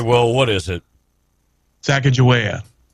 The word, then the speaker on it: Sacagawea: both times all right well what is it Sacagawea it's in the neighborhood that was right there